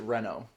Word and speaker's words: Reno: I don't know, but in Final Fantasy Advent Children, they pronounce it Renault.